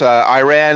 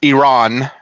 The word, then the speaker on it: Iran: um well I mean I know technically it's pronounced Iran that I believe I know some folks say Iran you know because of how spelled how it looks but but yeah technically